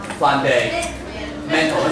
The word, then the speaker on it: fundamental: Here, number 5, this word, the stress on the stress on the third syllable. 如果重音在第3个音节的话，怎么念呢？Fundamental，这个呢？